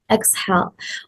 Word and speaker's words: exhale: The correct form is exhale, where the second syllable carries the stress.